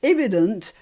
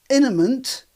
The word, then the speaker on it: imminent: Right, so let's start with her mispronouncing Tehran as Tehran, and then she mispronounces imminent as imminent.